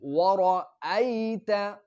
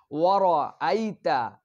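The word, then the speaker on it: وَرَأَيْتَ: এরপরে আমাদের জন্য ওয়ারাআইতা, ওয়ারাআইতা, এখানে ভুল আমরা কি করি, ওয়ারাআইতা বলে ফেলি, ওয়ারানা র, এখানে রটা পোর হবে, রর উপর যদি জবর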